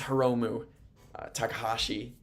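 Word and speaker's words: Hiromu Takahashi: It is Heromu Takahashi and Hiroshi Tanahashi. That's the difference.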